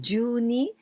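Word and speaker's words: 十二: If this is the kanji ju and ni, so we pronounce ju ni, it means 12.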